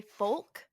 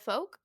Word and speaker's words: folk: convinced that he's right he will say folk instead of folk like f-o-l-k and we're like why